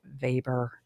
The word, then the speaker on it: Weber: So, for those of you not in the know, it's spelled like Weber, but it's pronounced vber, right?